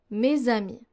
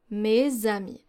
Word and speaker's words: mes amis: For the Z sound, we have, for example, mes amis, mes amis. So you don't pronounce it like an S, but rather like a Z.